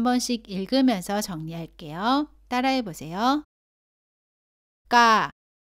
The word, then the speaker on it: 까: 모두 가와 발음이 비슷한데 까는 가보다는 세게 발음하고 공기가 나오지 않습니다.